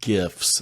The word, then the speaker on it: GIF: but um I think most people would probably say GIF with a hard G instead of the softer J sound I do and not